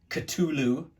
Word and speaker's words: Cthulhu: heard it siflu I've heard it katulu I've heard it um uh let's see how else have I heard it I don't know probably about 12 other different variations of it but generally people pronounce it Cthulhu um Lovecraft sort of you know wrote it in a jumble of letters because it wasn't really supposed to be pronounced by human tongues um Cthulhu is you